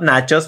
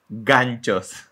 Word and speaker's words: ganchos: Make sure to pronounce ganchos, not nachos, like one of the judges in So You Think You Can Dance was pronouncing, not nachos, ganchos.